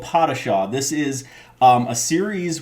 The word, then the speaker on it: Padishah: mob craft called uh pottershaw we were looking up how to say this let me tell you because we did not want to say it wrong so it is called patasha this is um a